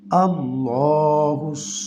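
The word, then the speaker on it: الله: কুল হুয়াল্লাহু আহাদ, আল্লাহুস সামাদ। হামজা লাম জবর আল, লাম খাড়া জবর লা, আল্লাহ। লামের যখন ডাইনে জবর থাকে, তখন ওই লামটা উচ্চারণ করে পড়ার সময় অবশ্যই কী করে পড়তে হবে? একটু মোটা।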